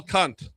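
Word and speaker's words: Kant: Do you have Emanuel Kunt? Okay. K A N T. Okay. Always important to pronounce that A.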